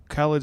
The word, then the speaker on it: Khaled: Khaled, yeah. More of Khaled's mainstream these days. He's blown up already. Taken off. He's taken off, and that's just another one of those. Their styles match well. Khaled's a singer, and again with Black having the